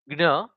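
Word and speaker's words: જ્ઞ: Okay, but this is more, it's pronounced as gna and very near to it.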